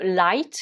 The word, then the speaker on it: light: alors déjà on le prononce comment on le prononce light ce mot hein donc on écrit l i